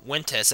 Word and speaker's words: Ventus: uh like I know vintus or wintus as he as he pronounces it Ventus is dispelled uh